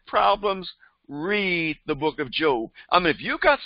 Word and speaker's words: Job: anymore by the way his name is pronounced job or uh in the latin or greek it's yob i ob in greek and uh eob and in a hebrew and so we call him job and i now now